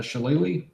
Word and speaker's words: shillelagh: I will do my shillelagh.